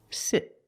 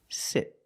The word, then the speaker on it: sit: Sit. Sit. Not sit, but sit.